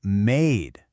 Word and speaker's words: made: We add just one silent E to the end, and suddenly the word is made. The whole vowel sound stretches out, A.